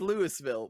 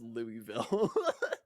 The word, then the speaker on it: Louisville: It Um, reads Louisville, but it's pronounced Louisville.